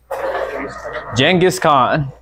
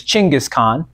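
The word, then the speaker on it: Genghis Khan: pronunciation of his name this is the white European way to pronounce it his it's his actual name is chingis Khan um but this is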